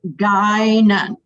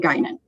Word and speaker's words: Guinan: Everybody, if you can hear me, it's actually pronounced Guinan. So it's very Irish name, Guinan.